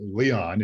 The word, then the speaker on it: Leon: I keep hesitating because I had a friend by the name of Roger Leon, but Leon is how you pronounce it. Leon has been our guest today.